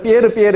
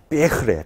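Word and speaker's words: Pierre: 삐에흐. 프랑스 친구였어요. 내가 맨날 삐에르 했더니 삐에흐래. 삐에흐. 발음을 똑바로 하래요.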